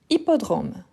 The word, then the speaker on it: hippodrome: Et oui, c'est l'hippodrome. Donc c'est un H muet.